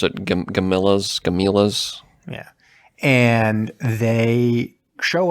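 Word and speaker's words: Gamilas: spelled weird it's like gamelons but yeah they pronounce it camilla's camillas yeah and they show up and they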